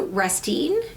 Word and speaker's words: Restine: Lisa Restine. I'm pronouncing your name right, I hope.